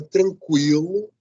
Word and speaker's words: tranquilo: uso da escrita desses: mas você deve conservar a pronúncia desses dois pontos em cima da da palavra tranquilo da palavra tranquila da